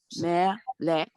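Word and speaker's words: מלך: I said me, lek. melech. Mm-hmm. Right, Melek. You have to hear that, not a k.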